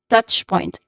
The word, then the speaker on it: touch point: Touch point. The stressed syllable here is the first syllable, touch. So you say it as touch point.